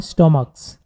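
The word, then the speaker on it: stomachs: কিন্তু যদি শেষের সিএইচটি কর মতো উচ্চারণ হয় তাহলে হচ্ছে শুধু এর যুক্ত করে প্লুরাল করতে হয়। তো এখানে যেহেতু স্টমাক, সিএইচ এর উচ্চারণ কর মতো হচ্ছে, তাহলে আমরা শুধু এর যুক্ত করে এটা প্লুরাল করব।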